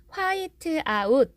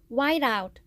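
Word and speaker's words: whiteout: 기억하실 지 않을까 싶고요 발음은 화이트아웃 이렇게 한다기보다는 y 아웃 와 1 아웃 이렇게 하시면 되겠습니다 우리가 화이트 말고 수정테이프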